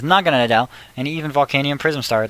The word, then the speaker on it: Naganadel: I might just have to keep that up there so I can always pronounce it properly. It's Naganadel, and even Volcanium Prism Star, the majestic Arceus